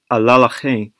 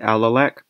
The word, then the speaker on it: Alalakh: So in addition, Barkin N/Tel Kurdu EC and/or ancient Caucasian groups cannot successfully model Ebla, early Middle Bronze Age, and Alalakh, Middle Late Bronze Age, in QPADM, suggesting that these sources do not represent good proxies of their true ancestries.